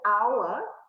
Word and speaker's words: hour: only takes a hour even though it starts with an age it makes the vowel sound therefore your answer is